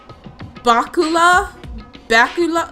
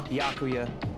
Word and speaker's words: Byakuya: Bakula? Bakula? Is that Bakula? I don't know. Byakuya. Oh, she was pronouncing his name wrong.